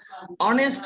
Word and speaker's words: honest: অনেস্ট ম্যান, অনেস্ট আমরা যখন উচ্চারণ করি এটা অ উচ্চারণ হয়, ঠিক আছে, অনেস্ট।